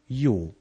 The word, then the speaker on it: jó: They say good, which is jó. And since you already know how to pronounce a Hungarian J, and you also have a basic knowledge about electricity, you have won your first victory.